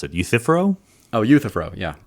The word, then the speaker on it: Euthyphro: I'm on board with the I can never pronounce it Euthyphro oh you Thoreau yea Euthyphro dilemma and why there should be some of